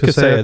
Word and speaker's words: Kaseya: Yeah, it's Kaseya.